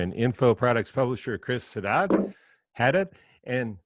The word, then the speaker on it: Haddad: copywriter and info products publisher Chris Haddad, and that's how they say it in Whatever. Boston, right? And They say Haddad. Haddad.